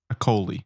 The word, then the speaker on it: Acholi: Acholi. Kony. Yeah, I'm going to say it's a silent H. Akoli.